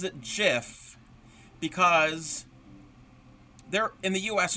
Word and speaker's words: GIF: was told the creator of that file format pronounces it JF because there in the US there's a brand